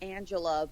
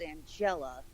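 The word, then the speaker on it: Angella: wanted to say just Angela, because that's obviously the way it was written, but it's Angela. You got to put the emphasis on the right letter.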